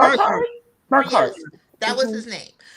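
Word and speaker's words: Burghardt: How do you pronounce his son's name? It's the B part of W's name. Burkhart.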